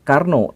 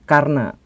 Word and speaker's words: Karna: Dan bukan Karno, tetapi Karna.